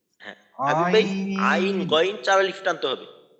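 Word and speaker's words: عين: তাইন গ আইন হ্যাঁ এইটাকে চার আলিফ টানতে হবে হ্যাঁ ভাই আইন গইন চার আলিফ টানতে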